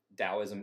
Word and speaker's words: Daoism: are moving towards taoism with a d it's pronounced taoism either way whether you see it with a